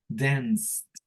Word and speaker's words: danced: Danced. Danced. Sí, es como que le damos como que al último pronunciamos la T. Arrastramos la T, ¿no?